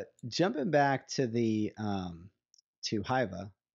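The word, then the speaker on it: Hyvä: jumping back to the to Hyva, how do you pronounce it again?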